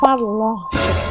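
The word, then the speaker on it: parlanchín: Kalau lihat di Google, bacanya Parlanchin.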